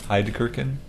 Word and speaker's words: Heidgerken: Heidgerken. Hyde? Gherkin. Gherkin? Like German. gherkin like a pickle?